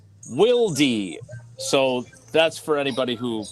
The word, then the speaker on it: Wilde: Germans obviously pronounce the not silent E because it's not silent for them. So it's Wildy.